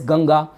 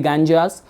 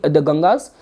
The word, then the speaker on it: Ganga: So later on what happened, the story goes like this, that the goddess Ganga, the western listener and audience, they pronounce that as the Ganjas.